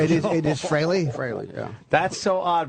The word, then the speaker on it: Frehley: I always spell it wrong. Everyone freely, but it's Freley. Freely admits that Freley is the proper pronunciation. It is. It is Freley.